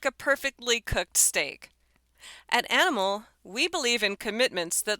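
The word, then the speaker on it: Animl: The restaurant, the name is pronounced like animal, it's spelled an N I M L made the rather juicy offer in a post on Instagram on Monday.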